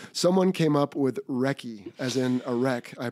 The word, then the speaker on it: Wrecky: So Wrecky rhymes with Becky.